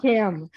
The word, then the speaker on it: Kahm: It's Kahm, but that's pretty Kahm.